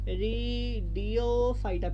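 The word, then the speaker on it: Pteridophyta: পি স্পেলিংটা কিন্তু পি দিয়ে, হ্যাঁ, টেরিডিওফাইটা, পি সাইলেন্ট, হ্যাঁ।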